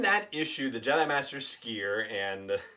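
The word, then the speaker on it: Sskeer: jedi master skier and that's just how you say his name you got to give it the longer s and the way that the drunker talk there are a lot of long s's so i'm just gonna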